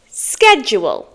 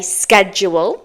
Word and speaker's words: schedule: one's a bit tricky in American English you would say schedule in British English it's usual to say schedule I'm a British native speaker and I say schedule there's no real rule